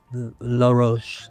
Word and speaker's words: Law Roach: Law Roach, that's the French way of pronouncing my name, in case you didn't know.